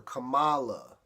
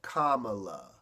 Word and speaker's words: Kamala: mispronounce her name by calling her Cala instead of Kamala it's one of those